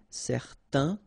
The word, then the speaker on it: certain: and then they will produce this un sound. Okay, so it's nasal in your nose, un. Okay, if you add this at the end, then it will change the thing, and then you will pronounce it n. Okay, so the masculine form, certain, the feminine form, certaine.